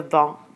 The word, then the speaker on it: vends: Notice that you don't pronounce the de with the je vends, tu vends, but you do pronounce it with nous vendons and vous vendez, and il and elle vendent. But you don't pronounce the E and T.